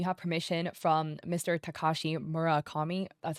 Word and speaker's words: Murakami: Takashi Murakami?" That's how you pronounce it.